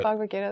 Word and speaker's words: Bhagavad Gita: Bhagavad Gita.